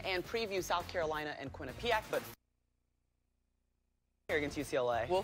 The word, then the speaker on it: Quinnipiac: All right, Dave, turn around that pronunciation. Quinnipiac. Quinnipiac is correct, and Rebecca doesn't make a three-quarter court shot.